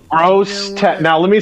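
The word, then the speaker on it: Grosse Tete: I did say it right. Gross Tet.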